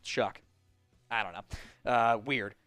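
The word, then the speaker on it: Shough: S H O U G H pronounced Chuck.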